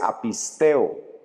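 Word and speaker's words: apisteō: sepa por cultura general la primera que es incredulidad se pronuncia apistía la segunda que es no creer es a pisteo y la tercera que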